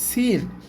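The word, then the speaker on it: سين: দাত তিনটা দাঁত থাকলে এই অক্ষরটার নাম হবে সিন আর সিনের উপরে যখন তিনটা নুক্তা থাকবে তখন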